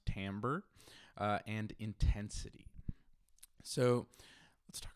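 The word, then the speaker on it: timbre: got duration pitch Tambor looks like Tim Bri but it's actually pronounced Tambor and intensity so let's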